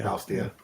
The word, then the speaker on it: Faustia: Yeah, I say Faustia. Faustia is correct. Like a Faustian bargain.